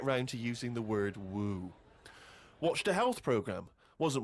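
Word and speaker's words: wewe: Is that how am I pronouncing Who's that right? using that word? Woo?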